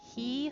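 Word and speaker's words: ひ: Hi, which is actually pronounced he, so H-I.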